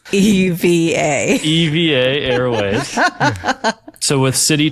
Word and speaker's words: EVA Air: It's EVA.